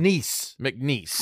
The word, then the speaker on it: McNeese: Have you heard of nieces and nephews? Yes, I have. Okay. Yes, I have them. McNeese. Yeah, just say it like that. McNeese. That's closer, right? Right, Graham?